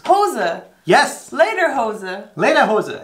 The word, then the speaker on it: Hose: garden one more time it's two syllables hoser yes later hoses lena